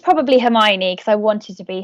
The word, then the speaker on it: Hermione: I used to call her Hermione when I didn't realise that her name's pronounced Hermione.